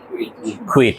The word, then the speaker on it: quit: কুইট, কোয়াইট না। উচ্চারণ কি? কুইট, ত্যাগ করা।